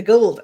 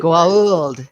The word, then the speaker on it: Goa'uld: There are some people say Gould. There are people who say, then immediately correct, Goa'uld. It's a whole joke in the series itself about the pronunciation on that.